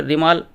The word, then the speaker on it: রেমাল: তার নাম দিয়ে দিয়েছে রেমাল উচ্চারণ হবে আর ই এবং এম এল ঋ মাল এই হিসাব উচ্চারণ করতে হবে উত্তর বঙ্গোপসাগরে এটার অবস্থান